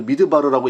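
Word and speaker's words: מדבר: 제가 지금 여기서 써놨는데 이제 MDBR 그러니까 우리식으로 하면 미음, 디귿, 비읍, 리을 이렇게 되어 있는데 이거를 미드바르라고 읽을 수가 있습니다.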